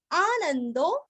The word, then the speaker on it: आनंदो: आनंदो न के ऊपर आघात आनंदो नंदनो नंदनो न के ऊपर आघात नंदनो वापस न के ऊपर आघात नंदस नंदस।